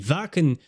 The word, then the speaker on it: Wacken: time at w ven somebody told me it pronounced as a v vaken 2013 a small village